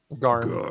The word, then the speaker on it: Garm: Am I pronouncing that right? Garm. Yeah. Garm.